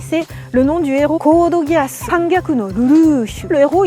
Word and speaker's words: Code Geass: Quand c'est écrit, je dis, ah, ça doit être de l'anglais, on va prononcer Code Geass.